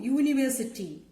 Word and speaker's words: university: Here, the word is beginning with a vowel letter U. This letter has the consonant sound of the letter Y. What is the sound? Ya. Okay, U, university.